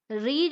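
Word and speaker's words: read: अब इस बात का थोड़ा ध्यान रखें, रीड रीड रीड नहीं होगा, रीड रैड रीड होगा। जबकि स्पेलिंग सेम होती है, वो थोड़ा ध्यान रखने की बात है।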